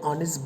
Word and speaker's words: honest: O is a sound with which the word honest begins.